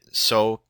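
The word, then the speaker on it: SOH CAH TOA: worry about it that's an acronym and we pronounce it sooa and what it stands for is s is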